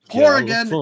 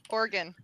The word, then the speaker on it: Oregon: Wait. It's pronounced Oregon. Everybody says Oregon. Oh, Oregon. Oregon? What? I usually say it Oregon. Hold on. For the only British person on the stream right now, he said Oregon.